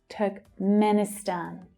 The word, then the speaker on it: Turkmenistan: Turkmen, Turkmen, Turkmeni, Turkmenistan. Stan is the strongest syllable.